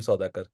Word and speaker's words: Soudhakar: guest over here Mr sakar and correct me if I'm mispronouncing your name Saker no no you can I mean I think that's the right pronunciation thank you so uh